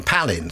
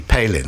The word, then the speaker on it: Palin: Advent of Sarah Palin everyone pronounced my name Palin so I would have to go and say oh no thanks it's actually Palin they say oh Palin